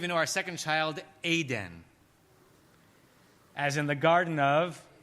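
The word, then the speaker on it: עדן: Israelis would say that Eden. It's two vowels the same. But a proper biblical pronunciation of that word would be Aden.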